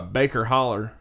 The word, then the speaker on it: Baker Hollow: Baker Hollow Cemetery uh Baker Holler Road Cemetery maker holler Baker holler down in the holler that's how they say it around here in Kentucky Baker holler Baker holler